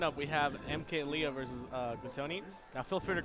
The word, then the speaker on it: Glutonny: now coming up, we have MkLeo versus Glutonny. Now, feel free to correct me how I say Glutonny because I literally cannot say it. Gluto. Thank you. He's cool with Gluto. Thank you. Yeah, it is Glutonny.